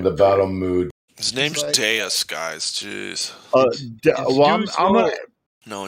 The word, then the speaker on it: Deus: D-E-U-S, and it's pronounced Deus.